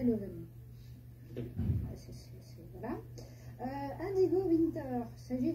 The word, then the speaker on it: Leuven: On peut prononcer Leuven. Leuven. En néerlandais, Leuven.